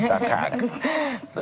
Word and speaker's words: Dakag: I like the way you pronounce it, Dakag. Sounded like Dark Age.